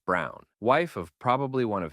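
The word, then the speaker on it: Braun: of the historical figure Eva Brown pronounced Brown wife of probably one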